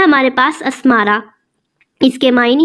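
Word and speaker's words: Asmara: नाम है हमारे पास अस्मारा। इसके मायने हैं खूबसूरत तितली और इसके स्पेलिंग है ए एस एम ए आर ए।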